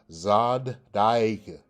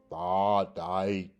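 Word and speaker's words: צדיק: I want you to notice it because in the pronunciation of this one, it goes Zod Daik, Zod Daik, Zod Daik, or either Tha Daik, Tha Daik. Okay, so that lets you know it has like a double D if you would relate that to English.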